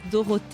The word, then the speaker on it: Dorothee: came to the US and my name was dorot in French uh and I came and it's